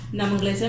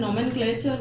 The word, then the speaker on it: nomenclature: Nomenclature means naming, to give name to something. Okay, it is written nomenclature, but don't pronounce it in this way. It is nomenclature.